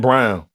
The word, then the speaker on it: Braun: a black name Brown yeah that's why I didn't know but it's spelled b r a u n yes m yeah but the announcers say brown my name is brown all I'm sorry I'm